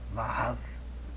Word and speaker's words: Vav: Pronuncia-se Vav. E tem um som de V, como videira, né?